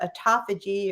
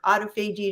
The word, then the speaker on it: autophagy: when you're not eating called autophagy or autophagy depending on how you pronounce it which is repairing the